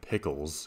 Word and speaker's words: piculs: On a spending spree in Malaysia, you buy an ox with a weight of 28.9 piculs, yes, that's how it's pronounced, in the local unit of weights.